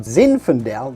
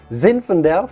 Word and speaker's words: zinfandel: probably already know about zinfandel that's how you must say it zinfandel from california which is a cousin